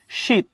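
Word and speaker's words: sheath: উচ্চারণটা কি? শীত।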